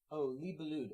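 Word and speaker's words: Libellud: Libelua? Libelua. Libelua. It's a D on the one. Oh, Libelude. Okay, that sounds more French.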